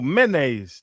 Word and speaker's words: mayonnaise: Why do you say it's so many syllables? You do a lot of things with too many syllables. Mayonnaise. Mayonnaise. Yeah, that's what I'm saying. Mayonnaise. No, mayonnaise. 2 syllables.